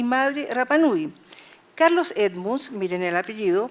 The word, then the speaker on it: Rapa Nui: Los Rapa Nui, la R no se pronuncia en Rapa Nui, por eso digo Rapa Nui, o pascuenses, como se